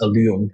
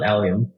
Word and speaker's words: Allium: people even knowing what alium actually meant uh so so most people think alium is a metal like aluminum right so that's why a lot of people pronounce this Alum and not alium uh there also another